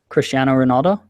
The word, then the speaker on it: Cristiano Ronaldo: how to respond to that what's that you pronounce his name again please Cristiano Ronaldo all right thanks guys he won his fifth